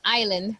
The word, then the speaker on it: island: you say if you say to okay the pronunciation for this word is island repeat it with me island island okay so